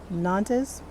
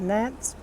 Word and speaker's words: Nantes: These are nantes. N A N Tes Nance. I have I've heard it pronounced Nance and Nantes.